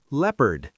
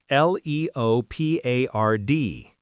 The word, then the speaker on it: leopard: Leopard. L E O P A R D. Leopard. Not leopard.